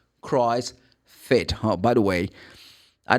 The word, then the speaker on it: CrossFit: Oh I am going to the Christ. No it's not Christ. Christ fit.